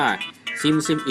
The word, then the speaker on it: SimSimi: แต่ ถ้า จะ อ่าน ให้ ถูก ต้อง เป็น ภาษา เกาหลี ตาม สัญชาติ ของ ผู้ ผลิต จะ ต้อง อ่าน ว่า ซิมซิมอิ นะ ครับ แอปพลิเคชั่น ตัว นี้ มี